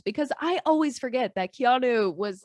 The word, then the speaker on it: Keanu: Because I always forget that Keanu was, like, doing that.